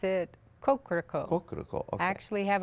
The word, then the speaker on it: Kokoroko: I believe he pronounced it Kokoroko.